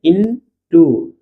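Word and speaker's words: into: क्या पढ़ते हैं इसको इट पढ़ते हैं क्या पढ़ते हैं इट पढ़ते हैं आई एन टी से इन टू इन टू इन टू इंटू इंटू नहीं इन टू ठीक है इन टू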